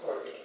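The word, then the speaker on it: calked: in the SS and they call it cour but it's spelled c CA l k e d CED but everybody said corked and uh there were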